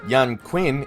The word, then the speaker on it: Yan Qin: Sho and Yan Qin, though it's pronounced as Yan Quinn in this game, are essentially for-hire investigators.